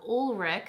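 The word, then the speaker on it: Ulrich Lang: i picked a sample that i have of ulrich that's how you say it thank you so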